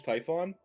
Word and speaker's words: Typhon: the the mother of all Greek monsters, Typhon. I I don't think I've ever heard it pronounced that way.